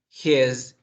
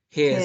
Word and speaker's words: his: notar que aquí yo hago una vibración, mira. His. His. She's. It's. Acá es una S, acá es como una Z, mira.